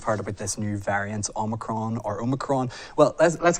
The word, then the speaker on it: omicron: tomato i say tomato it's omicron it's all with emphasis on the oh it's the 15th letter